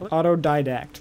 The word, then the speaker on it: autodidact: How do you pronounce that? Autodidact.